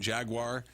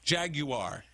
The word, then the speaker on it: Jaguar: of the uh sponsors where you have alpine jaguar wait i got to say it right jaguar i said because we learned it from nico